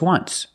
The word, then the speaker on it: once: this example just once but you say there's an o in wants that's a vowel but phonetically it's not a vowel phonetically it makes the sound like a w oo once so phonetically the t is between consonants so it's silent link to sounds just